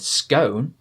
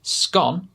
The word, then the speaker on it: scone: is have a guess if you use the first sound the o sound that we learned and said scone you'd be correct if you said the o sound and said scone you'd also be correct because this is